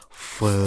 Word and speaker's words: pho: It's pronounced pho. Sorry, I'm saying it the white way, so you're gonna hear me say pho for the rest of the night.